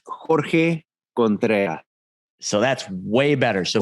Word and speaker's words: Jorge Contreras: The American way would be Jorge Contreras, but it's actually Jorge Contreras.